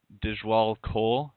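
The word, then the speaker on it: Djwhal Khul: entity no I'm not it's hard to pronounce name but it's dish wall coal it's DJ WH al k h UL and this was a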